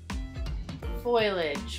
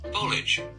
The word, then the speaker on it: foliage: do you how do you say this word foilage folage I've always said how do you pronounce this word foliage foliage I was right folage foliage foliage foliage okay in case you